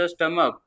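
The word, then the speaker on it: stomach: means काय आहे पोट तुम्हाला जर का लिहायला लावली स्टमकची स्पेलिंग तर तुम्ही काय लिहिणार आहे शेवटीला के लिहिणार आहे के नाहीय तर सी एच आहे समजतय का एल्बो एल्बो मीन्स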